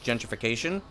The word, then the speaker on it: gentrification: Gentrification, because gentrification is a Latin-based word. And therefore, because the G has an E in front of it, you would use the J sound because it's a soft G.